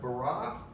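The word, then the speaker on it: בָּרָא: It's pronounced bara.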